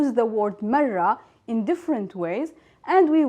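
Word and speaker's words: مرة: So, marra, and then we will have the sound of the ta marbuta, marra.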